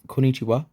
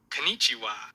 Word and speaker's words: こんにちは: On the other hand, if you want to draw crowds of admiring followers fawning over your excellent pronunciation, be sure to honor the doubled consonant here.